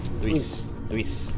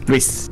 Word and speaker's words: Luis: you know yeah yeah you guys make it one syllable because that's how we pronounce it in Spanish Luis Luis yes my English drolls it